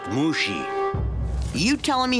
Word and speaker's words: Mushi: maybe you'd like the Avatar's help now it's pronounced Mushi you telling me how to do my job